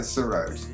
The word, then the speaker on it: sarod: discovered a new instrument, and I hope I'm pronouncing it correctly, is sarod? That's right, the sarod.